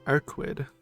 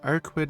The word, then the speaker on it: Arcueid: I am Arquid. I think that's how you say her name, but it is a weird name. My last name is really long, so Arquid is fine for now. I kind of remember it. It's like German, right?